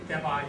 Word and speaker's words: Debye: Within the next few years, Joseph Debye, how to pronounce that? Anybody know? Debye, thank you.